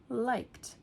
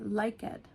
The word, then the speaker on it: liked: So, liked. Liked. Really sounds more like a t at the end. And the e you don't really hear it.